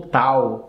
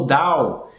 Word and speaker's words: Tao: em harmonia com o Tao, ou com o Dao, que é o mais próximo da pronúncia em mandarim.